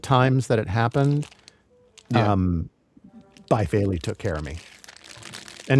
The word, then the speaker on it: Baifeili: I say Bifaley. Phil says Bifaley. Kevin says Bayfaley. But I'll go ahead and spell it for you. It's 3 separate words. Baifeili. Bifaley. Bayfaley. Bayfeli. However you want to say it, we call it Bifaley.